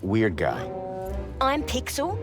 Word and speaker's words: Pixel: I'm Pixel. It's easy to remember because it rhymes with pic.